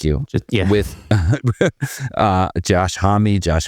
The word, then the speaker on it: Homme: Just with Uh Josh Hammy. Josh homie. Josh. I say hamie, but nobody knows. Yeah. I mean, I used to say home before I even realized.